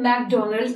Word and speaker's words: McDonald's: Wo jo clown had, the name of the person was Ronald McDonald's, aur unhi ke naam par ye food chain bani hai, which we actually pronounce McDonald.